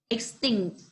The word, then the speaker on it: extinct: team princess right extinct remember that the strength of the work is on thing so you need to pronounce it like this extinct repeat after me please